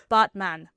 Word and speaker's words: Batman: So, it's actually pronounced botman. Botman. Like botman. Like he's a man with a robot. Man. So like a as in father, father.